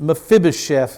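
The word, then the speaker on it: Mephibosheth: Mephibbos is his name. We pronounce it Mphibichef in English.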